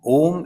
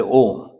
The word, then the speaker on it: Om: and shami VI said it is rolling from the Neville then coming to the throat and then coming out a o Mo and if if you